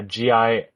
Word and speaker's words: Gingy: Gingy is his name on YouTube, and yeah, Gingy, and sure it's not he did Genji. No, because I don't know why you'd pronounce Gin as Gen.